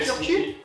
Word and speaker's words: Turku: Et c'est Turku. Non. Non, c'était où t'étais, Turku. Mais ça se prononce Turku, c'est mieux.